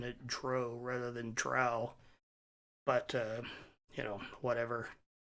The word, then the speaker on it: drow: I we didn't know that and we always pronounced it dro and so even today I still feel more comfortable pronouncing it Dro rather than drow but uh you know whatever I I call